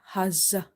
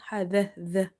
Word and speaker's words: حذر: You can't read it hazza. You have to read hadha.